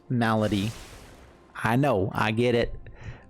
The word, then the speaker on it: Malady: lead off with the temple of milady i know it's pronounced malady i know i get